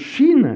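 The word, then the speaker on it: שׁ: est pointée à droite, cette lettre se prononce Chine, c'est la Chine, c'est l'Orient, et quand elle est pointée à gauche, elle se prononce Sin, Sinaï.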